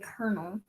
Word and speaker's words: colonel: we're gonna thinking cap o and l together because both of them make an er sound strangely enough oh yeah